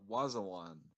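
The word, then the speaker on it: Wazwan: was a one watch all of its it's pronounced Wazza one its w AZ w a n of Kashmir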